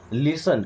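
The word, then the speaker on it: listen: देखिए इस वर्ड में ना टी साइलेंट होता है। इसको लिस्टन नहीं पढ़ना। लिसन क्या पढ़ेंगे?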